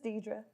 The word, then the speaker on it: D'Dra: to get even more creative to get it pronounced correctly but it's deidre just deidre and where are you from um